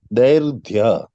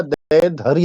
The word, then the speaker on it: दैर्घ्य: जैसे तरंग दैर्घ्य, ये दैर्घ्य होगा या दैर्ध्य होगा? क्या होगा जी इसका उच्चारण? दैर्घ्य। दैर्घ्य, दैर्घ्य। हाँ, दैर्घ्य। तो रेफ जो है वो ध के पहले आके बैठेगा।